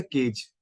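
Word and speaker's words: cadge: सो अगर आप इसके प्रोनाउंसिएशन को ध्यान दो तो इसका डी अगर आप साइलेंट कर दो सो इट is almost a केज.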